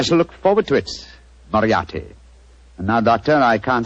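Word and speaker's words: Moriarty: m o r i a r t y mariati mariati I shall remember that name I have a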